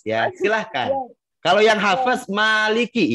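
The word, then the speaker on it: مالك: Kalau yang hafaz maliki ya dibacanya, bukan maliki. Ya. Bukan dibaca pendek, tapi baca panjang.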